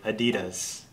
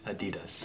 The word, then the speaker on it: adidas: about DDoS adidas mm-hmm it's really fast adidas mm-hmm three syllables do you like friends